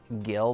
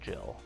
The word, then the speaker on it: Gil: I should say Jill. I was calling him Gil, but it's actually Jill pronounced because they made us aware that it's the same pronunciation for the two characters.